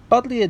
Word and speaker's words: Buddleja: he first classified it it doesn't matter the pronunciation is the same budlio davidii originates in china